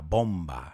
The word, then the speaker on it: bomb: do with the hydrogen bomb. Let's look at that word bomb, la bomba, right? It's the bomb. Lo usamos más en ese uso que bomba atómica. But the B at the end is silent.